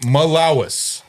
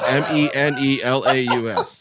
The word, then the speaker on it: Menelaus: Menelaus. Malawis. I even went online and looked at it. Malawis. It's Menelaus.